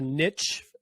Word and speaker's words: niche: of of finding a a niche as Americans say Niche if you're overseas uh yep okay and